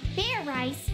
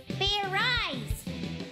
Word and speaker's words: Fairies: idiot like i said it's not fair rice it's fair eyes do it again and this time make sure you pronounce the z let's do this